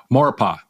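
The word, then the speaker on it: Maurepas: minute drive from New Orleans how do you pronounce this word moropus morpa okay a 40 odd mile 40 odd minute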